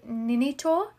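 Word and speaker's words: Ninetto: Then in 1963, at 41, Pasolini met 15-year-old Ninito, and that's how you say it, who he later cast in one of his movies.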